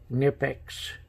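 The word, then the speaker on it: Knipex: after watching some videos on the product they pronounce it nip X and like n IP defects universe they work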